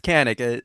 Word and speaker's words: Kanik: Proper way of saying it is Kanik.